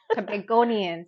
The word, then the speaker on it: Tobagonian: Tobagonian.